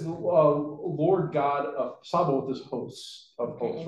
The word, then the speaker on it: Sabaoth: So I think the TH is kind of pronounced, Okay. but it's really kind of a soft TH, right?